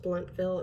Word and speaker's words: Blountville: in blountville in march i believe it's pronounced bluntville it's found it's spelled like blountville but when i used